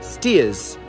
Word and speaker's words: Staithes: lucky because this isn't actually pronounced stage it's pronounced steers steers there you go perfect James Cook moved to Whitby in 1747.